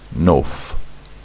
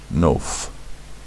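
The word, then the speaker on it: נוף: So this word is pronounced nof, nof, nun, o, f, nof, right?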